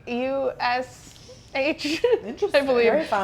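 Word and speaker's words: Kusch: K-U-S-H, I believe. Very fun. No, K-U-S-C-H. Okay, a little different. but pronounced Kush.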